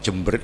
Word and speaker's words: Jember: Nah, kalau jember ini dulu itu sebetulnya jembar. Yang dimaksud itu jembar. Cuma kalau jembar dalam bahasa Madura itu diucapkan jember.